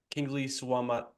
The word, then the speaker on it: Kingsley Suamataia: Kingsley Suamataia. Sure. That's how it's pronounced.